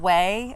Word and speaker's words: Ouai: I think she's Chrissy Teigen's hairstylist, and it's called Way, but this is how it's spelled, OUAI.